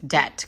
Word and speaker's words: doubt: Doubt. D. The B is silent. Doubt.